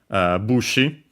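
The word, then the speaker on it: 武士: And yeah, so you will find it in, well, to mention just a couple of compounds, we have bushi, accent on the first syllable, despite being a strictly, well, a Chinese compound, sorry.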